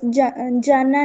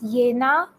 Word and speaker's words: Jena: Jedes Jahr fahren Studenten aus Jena nach Berlin. German में हमेशा याद रखो जे को हम वाई प्रोनाउंस करते हैं.